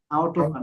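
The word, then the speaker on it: Autobahn: অটোবান। অটো না, আউটো। আউটো। আউটোবান, হ্যাঁ।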